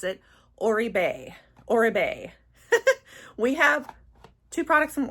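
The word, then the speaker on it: Oribe: All right, you guys have finally taught me how to pronounce it. Orbeay.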